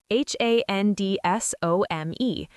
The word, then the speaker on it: handsome: H A N D S O M E. But you say handsome.